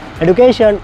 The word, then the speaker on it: education: Education is the backbone of a nation. So it's totally wrong. It should be education. Jaw sound.